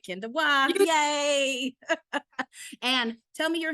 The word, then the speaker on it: Kenda Waugh: I pronounce it right? Kenda Waugh.